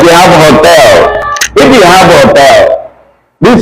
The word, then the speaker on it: hotel: Now, if you're pronouncing it, the H disappears. The H disappears. It becomes what? Hotel. So in Spanish, hotel is pronounced hotel, not hotel, right?